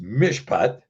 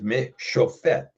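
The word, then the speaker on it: מִשְׁפָּט: it's pronounced mishpat because instead of taking the pay and saying pet, you say Yeah. fet, Yep. mishpat instead of mishofet.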